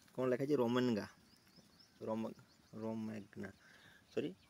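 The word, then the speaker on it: Romagna: এমিলা রোমান grand Prix 2024 title তো এমিলার রোমেনগা sorry ঠিক আছে প্রোনাউন্সে প্রবলেম হইলো মোর এটা কোন লেখা আছে রোমেনগা রোমা রোমেগনা সরি হু ওয়ান দা এমিলা রোমাগনা গ্র্যান্ড প্রিক্স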